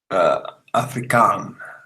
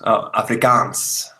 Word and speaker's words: Afrikaans: Afrikaan. The S is pronounced Afrikaans.